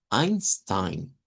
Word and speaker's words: Einstein: Eh, y es que si se revisa el apellido de ese señor, se escribe con e i, pero todos lo pronuncian como Einstein.